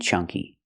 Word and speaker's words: chunk: When you see an N before a K, it's pronounced with a sound like ring and song.